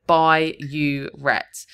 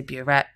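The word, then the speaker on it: burette: One common mistake here is writing bureet instead of by uet. They will accept if you've spelled it incorrectly, but phonetically it sounds the same. But I just split up here to try and help you remember. By don't say boret, you're going to lose the mark.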